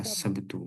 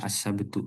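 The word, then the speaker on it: السبت: boleh disukunkan boleh dibaca asabtu ya boleh silakan asab jadi itu biar biar gampang ingat aja sebetulnya dibaca assabtu sama kayak bahasa kita sabtu itu alasan pertama alasan kedua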